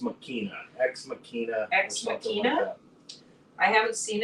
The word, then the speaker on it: Machina: ex machina X it's spelled Machina but it's pronounced makina ex machina I haven't seen it um maybe